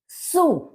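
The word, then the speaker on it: Zoo: सू। सू यानी कि जू, क्योंकि जर्मन में जेड का प्रोनाउंसिएशन सा की तरह से होता है और सा का जा की तरह से होता है।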